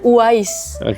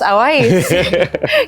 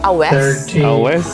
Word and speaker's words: Awais: Kita taunya nama beliau adalah Uwais. Karena Uwais. spellingnya tulisannya Uwais ya kan? Ternyata, spellingnya Awais. Kita panggil Mas Awais. Kayak gitu kan. Terus setelah ngobrol, akhirnya kemarin sampai Jakarta, kita tanya pronunciation namanya gimana sih? Ternyata bacanya di Pakistan bisa dibaca Awes, atau bisa jadi disebut Owes.